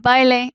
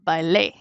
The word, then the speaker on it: bailé: Así que si hay acento escrito, si hay tilde, se pronuncia esta cosa más fuerte.